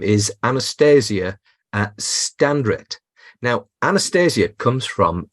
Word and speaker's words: Anastasiia: And the name in Ukrainian sounds as Anastasiia, but I think it might be pretty tough to pronounce this in English. So most people say Anastasiia, and that's okay.